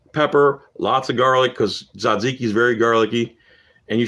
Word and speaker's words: tzatziki: runny tzatziki sauce and if you can't say it right zodziki just don't say it man cause i